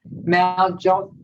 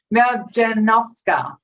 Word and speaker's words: Maljanovska: So we're here and we're talking to Maljovska. I said it before, and I knew I was going to muck it up. Maljanovska.